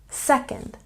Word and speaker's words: second: Don't forget to stress the first syllable in second, second.